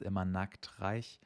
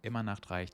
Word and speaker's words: Immer Nachtreich: infamous Immer Nachtreich, which a lot of people pronounce as Immer Nachtreich, which is really funny to us Germans because Nackt means nude. So essentially, it's a kingdom where everyone is always naked.